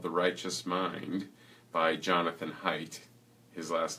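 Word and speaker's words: Haidt: a book called the righteous mind by Jonathan height his last name is spelled H AI DT and he was at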